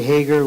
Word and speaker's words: Hagar: many times people say Hagar which doesn't really matter but in Hebrew usually the emphasis is on the last syllable so if you're gonna